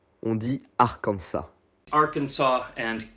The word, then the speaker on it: Arkansas: D'ailleurs, en français comme en anglais, le S à la fin ne se prononce pas. On dit Arkansas.